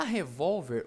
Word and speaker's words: revólver: sílaba mais forte beleza já revólver o acento não está aqui na última e sim na penúltima a verdade né professor